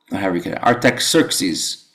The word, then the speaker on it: Artaxerxes: If you could pronounce this, anybody has a degree in pronunciation of Persian emperors? Artaxerxes.